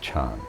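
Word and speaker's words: 禅: in japanese and and in chinese actually it's pronounced chan so i got in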